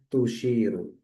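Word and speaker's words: تشير: Maka pasnya membacanya adalah tusyiru.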